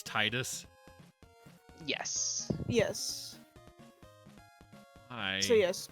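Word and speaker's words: Tidus: should you now that we're talking about name pronunciations wasn't it officially confirmed that Final Fantasy 10 it's Titus yes yes hi so yes Chris is an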